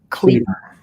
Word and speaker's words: Cleaver: dr oh my okay dr robert pronounced clever okay dr robert cleaver what's his title um